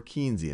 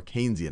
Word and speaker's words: Keynesian: more one of that's more keian and some of what we've talked about or Keynesian I should say I already did my first mispronunciation one that's a little